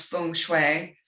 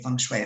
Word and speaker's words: feng shui: help remedy that so the direct translation is pronounced feng shui so if you're ever working with asian clients